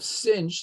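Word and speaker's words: sinh: the Laplace transform of cinch that's how we pronounce hyperbolic signs cinch of t is equal to 1 over s squared minus 1.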